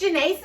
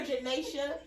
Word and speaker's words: Janesa: We have my gorgeous cousin, and I always say your name wrong and you never correct me. It's Janesa. And I just want to let y'all know I have called her Janasia since I've met her, and I'm know like, who is that?